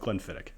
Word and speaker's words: Glenfiddich: let's see Eric wait is drinking a 1998 Glenfiddich is that pronounced Glenfiddich or Glenfiddich I've heard both including from like the actual distillery so I've always gone with Glenfiddich so cast strength that I brought back from